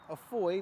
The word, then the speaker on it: Afoy: He said, "Afoy like boy."